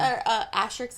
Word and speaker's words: asterisk: Asterisk emotional.